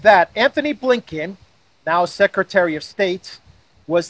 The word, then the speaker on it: Blinken: give you a hint his last name rhymes with stinking that's right I was going to say former current current uh Secretary of States Anthony blinken who was at the